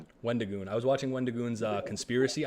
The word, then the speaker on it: Wendigoon: Wendigoon.